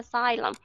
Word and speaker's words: xylem: Nhưng mà ở bên đó người ta đọc là xylem. Thì ở bên tiếng Anh thì chỉ có cái âm Z này, bên tiếng Mỹ đó chỉ có âm Z này là sát nhất thôi. Cho nên vẫn đọc là xylem.